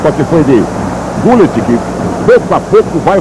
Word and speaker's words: Gullit: Aliás, segundo um holandês que eu conheci recentemente em viagem ao exterior, a pronúncia é Gullit. Gullit, então vamos escrever Gullit. Sai de dentro da garganta.